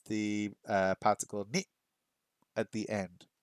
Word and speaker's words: へ: It looks like he, but it is e to show where you are going.